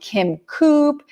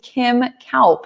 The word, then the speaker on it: Kaup: I get Kim Coop. I get all sorts of things. But now on LinkedIn, you can hear my pronunciation, which is Kim Kaup.